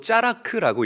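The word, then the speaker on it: צלח: 형통은 히브리어로 짜라크라고 읽고 발음합니다.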